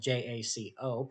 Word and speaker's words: Jaco: Jaco being the largest beach town in Costa Rica, spelled Jaco, pronounced Jaco.